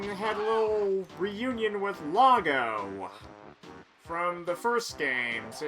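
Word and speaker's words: Loggo: And I just now realized that he's pronounced logo because he's a toilet. And when someone uh says that they dropped a log, that means that they're taking a poop.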